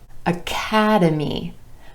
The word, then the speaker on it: academy: Academy, academy. 4 syllables in this word with emphasis on the second syllable and the a vowel sound, academy.